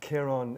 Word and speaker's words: Ciaran: I've been called many names since I left Ireland, but Ciaran is the correct pronunciation.